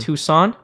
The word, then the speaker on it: Tucson: Tucson.